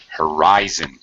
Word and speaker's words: horizon: is the Holy song horizon yeah middle right um yes yeah middle syllable stress but yeah that's the horizon and I really really